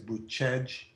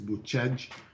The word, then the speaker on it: Bucegi: This area is in, the way you say it is Buscegi. We'd spell it Bucegi. Americans might pronounce it Buscegi, but the way that Romanians say it is Buscegi.